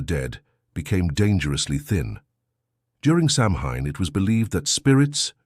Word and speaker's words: Samhain: the Celtic people celebrated a festival called Samhain, pronounced Samhain.